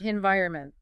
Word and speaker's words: environment: change I'm all ears environment environment I say Anon with the emphasis on the second syllable you are absolutely correct